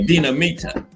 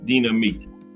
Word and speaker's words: Dinamita: I was saying if I was pronouncing that name right, Dinamita. That's it. Yeah, Dina. I had it right the first time. Dinamita.